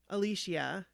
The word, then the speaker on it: Alicia: to these things that I read she saw Alicia is how you say at least yeah Alicia